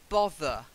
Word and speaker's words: bother: make me look up bother Oh bother not oh bugger Martha that's it not bother hey I know we say brother but it is bother Oh bother okay people